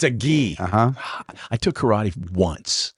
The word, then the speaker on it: gi: and and a t-shirt did I say it wrong a Jud did what what did I call it a it's a ghee oh it's a ghee uhuh I took karate